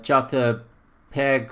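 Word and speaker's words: JPEG: have i normally say my cover has a jata peg or jata pg gpg file that's how you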